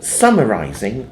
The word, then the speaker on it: summarizing: summarizing that's it so summarizing the the emphasis is on the first syllable so it's so summarizing